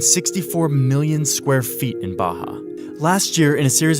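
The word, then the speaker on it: Barra: the West is the place called Baja ours are pronounced like H in Portuguese this is a new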